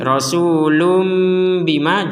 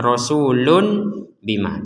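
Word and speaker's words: رسولٌ بما: Jadi rasulum bima jangan sampai kita membacanya rasulun bima, jangan sampai jelas lun bima. Ya, jadi jangan sampai dibaca jelas.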